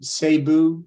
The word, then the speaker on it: Cebu: You come from Cebu City, Is that pronounced properly?